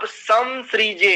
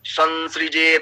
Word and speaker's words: संसृजे: तो यहां पर उच्चारण क्या होना चाहिए? संसृजे था मयंच, इस रूप में।